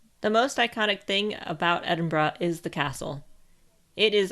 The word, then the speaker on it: Edinburgh: The correct way of saying the capital city of Scotland is Edinburgh. If you say it like an American, Edinburgh, you will stand out really easily, and you definitely are a tourist.